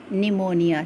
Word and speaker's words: pneumonia: She had pneumonia. Children, see the spelling of pneumonia. Okay. Here. Pneumonia. Here P is silent.